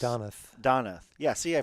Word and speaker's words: Donath: it's Donath. Donath. Yeah, see, I pronounced it wrong both ways.